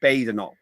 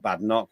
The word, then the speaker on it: Badenoch: It's Badenoch, not Badenoch.